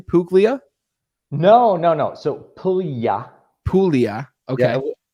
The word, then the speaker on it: Puglia: So Puglia. Puglia. Yeah, Okay. I used to say Puglia as well because we want to pronounce the letters like that. Puglia, that GLI is a Y sound.